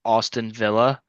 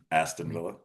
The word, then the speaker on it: Aston Villa: Uh, I think Austin Villa are going to stay in fourth. Only if you pronounce it correctly. Austin Villa. Aston. Aston Villa.